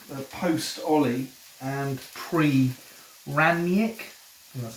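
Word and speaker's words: Rangnick: just one game the post ollie and pre ramnyak and that's how you say it and then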